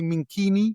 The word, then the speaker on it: Minquini: Do I say it correctly, Minquini? Or what? Yes.